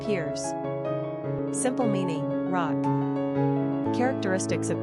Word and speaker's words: Pierce: Pronunciation, Piers.